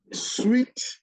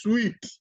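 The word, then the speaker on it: suite: 11, suit, sweet, sweet. Now, guys, look at this word. It's spelled S-U-I-T-E. It is pronounced sweet.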